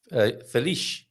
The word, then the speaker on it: feliz: Feliz, like a sh sound. Shh, that's Yeah, right. yeah. Shh. The sound is not z, but the sound is sh, right? Feliz aniversario.